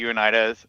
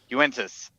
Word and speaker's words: Uintas: Unida. It's in the Unida, or however you pronounce it, because I screwed that Uintas. one up a lot. Uintas. There you go.